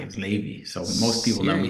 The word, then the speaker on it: Levi: it's my name's actually Ley that's the ashkenazic Jewish way of pronouncing Levi is Ley so most people know